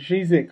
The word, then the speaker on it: Žižek: The philosopher Slavoj Žižek, I think that's how you say his name. Yep. He was talking. Zizek.